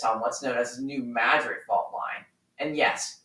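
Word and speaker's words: New Madrid: the region sits on what's known as the new madid fault line and yes it's pronounced that way for some reason which has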